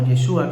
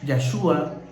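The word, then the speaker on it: ישוע: que su nombre Pues en hebreo se le reconoce más como yeshua que significa salvación en arameo podríamos tener varias pronunciaciones ya yashua puede ser oyeshua o me gusta utilizar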